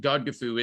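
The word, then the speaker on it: Godgifu: today uh and again I should mention that God gofu is the old English pronunciation and spelling of Lady Godiva's name so this God gofu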